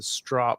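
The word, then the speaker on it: Stroppe: So Rob's asking, do you think the 60th will replace the strop? Did I say it right? Strop? You did. It's like stop sign.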